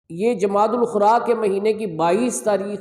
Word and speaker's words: جمادی الاخری: بھی کہا جاتا ہے۔ جمادی الثانی بھی کہتے ہیں، لیکن جو عربی کا تلفظ اور جو محاورہ ہے عربوں کا وہ جمادی الاخری ہے۔ یہ میں نے ربیع الاخر